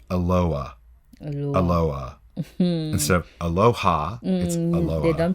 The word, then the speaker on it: Aloha: spelled the same way as Aloha but it's pronounced Aloha Aloha hmm sir Aloha don't pronounce the itch